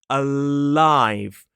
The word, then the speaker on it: alive: Whereas the sound like in the word alive, the tip of the tongue touches that hard bit just behind the top teeth and then drops down into the vowel sound.